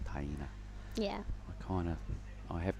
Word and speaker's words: Taina: The first name was interesting. It's actually Taina. Taina.